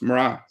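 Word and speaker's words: mná: irish in other words you pronounce that n as an r so it's mara yeah and that makes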